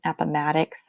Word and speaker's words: Appomattox: spell my last name Appomattox sounds like Maddox like mrs. Maddox so if you can't remember how to say it think of me it's ok you can go Apple Maddox like if I created an app Apple Maddox ok so how the